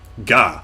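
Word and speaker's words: が: syllable starting with G the G sound is always pronounced like a hard G don't be pronounced to pronounce it like a Jai so its jaw ok ja gah no gah manga gotcha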